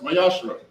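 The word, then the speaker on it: מעשר: Means tenth in Hebrew, and is pronounced Mayashra.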